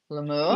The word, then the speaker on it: lemur: one said, Fan said it was a ring-tailed lemur. Yes. The next one, Glenda, tells me how to pronounce it.